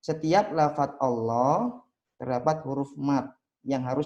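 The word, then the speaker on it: الله: Allah, huwallah, ayatullah, rasulullah, innallah, barakallah, radiyallah, nasrullah. Jadi seperti itu. Jadi dibaca panjang, 2 harokat.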